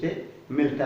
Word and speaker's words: simile: ताकि सभी वीडियोज का लाभ आपको नियमित रूप से मिलता रहे।